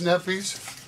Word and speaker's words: Kneppy's: Here's the owner, Joyce Kneppys. Joyce Kneppy, Kneppys Fireworks here. If you want to know how to spell it, show them the shirt, Joyce. K. Kneppys with a K. The K is silent.